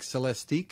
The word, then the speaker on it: Celestiq: So this is first going to be available in the very high-end Cadillac Celestiq, if I'm saying that right?